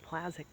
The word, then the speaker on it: Plazik: So I became, and then Plazz is from my married name, Plazik. It's like plaid. The Polish way of pronouncing it is like plaid check. Plaid check. Like a plaid check jacket.